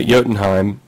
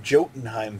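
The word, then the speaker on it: Jotunheim: uh yottenheim and um swear to god i've been pronouncing that jokenheim for years and then the space of like one month i've had three different cartoons and films tell me i'm wrong yeah it's yodan um so they go to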